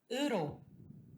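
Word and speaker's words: 으로: Uro. Uro. Otra vez. Suena raro, ¿no? Ro. Sí, es con la vocal que es una línea.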